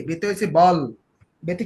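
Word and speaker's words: Ball: তা বি দিয়ে আমরা কটা লিখলাম, বল, বলেন তো কি, কি কি লিখছি বি দিয়া, বল শব্দগুলো বলেন তো, বল, মানে এটা কি উচ্চারণ বল হবে বাল, বাল, বুঝছেন, বি এ ডাবল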